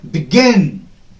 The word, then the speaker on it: begin: Then begin, begin, begin, a louder, longer, on a higher pitch.